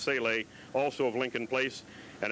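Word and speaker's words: Salaj: year old dan saleh s-a-l-a-j but pronounced celes also of lincoln place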